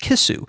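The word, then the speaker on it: キス: In Japanese, he was actually talking about a fish which is pronounced kisu.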